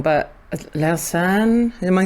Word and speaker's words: Lausanne: We met actually in, I'm going to pronounce it wrong, but Lausanne, am I saying that right? Lausanne, yeah.